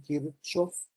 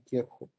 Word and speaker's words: Kirchhoff: Algunas personas aquí en México le dicen Kirchhoff, eh, pero normalmente en Europa lo dicen Kirchhoff, ¿ok? Como ustedes quieran pronunciar.